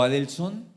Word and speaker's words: Adelsöhn: Ella es Liliana Toro Adelson, así se pronuncia.